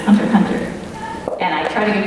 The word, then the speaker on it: Hunter x Hunter: Like the show is Hunter x Hunter, and there's all this debate about how Hunter X Hunter is like actually supposed to be pronounced, but it's Hunter Hunter.